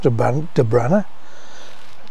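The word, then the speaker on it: Dobhranach: Pronounced De Branner.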